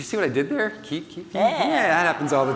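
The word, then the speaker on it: Kiip: Keep. Yeah, that happens all the time, right? Now you know how to pronounce it. It's not Kip, as long as you got the puns.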